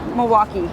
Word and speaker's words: Milwaukee: from Milwaukee yeah um am I supposed to pronounce the L I mean no in Milwaukee yeah okay you just want